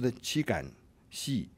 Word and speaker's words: Qi Gan Xi: His name was Qi Gan Xi, pronounced Qi Gan Xi, which could be difficult for non-Chinese to manage.